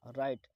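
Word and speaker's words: write: राइट. राइट का मतलब होता है लिखना, दोस्तों इसमें डब्ल्यू साइलेंट होता है.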